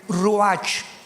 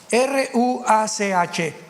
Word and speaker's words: ruach: Apunten todos ustedes los que les interesa en su Biblia la palabra espíritu, que es la palabra se escribe ruash. R u a c h. Ruach, que es la palabra espíritu.